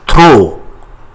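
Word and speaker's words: trop: the word in French throw th t r o p we don't pronounce p th the word late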